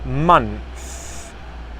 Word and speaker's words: months: it's not months it's months months can you see my tongue coming through at the end they're months months if